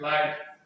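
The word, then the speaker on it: light: ठीक है, और उसके हाइट, लाइट, ये क्या हो जाएगा, एकदम लाइट, HT, लेकिन लाइट पढ़ते हैं, इसमें GH साइलेंट रहता है।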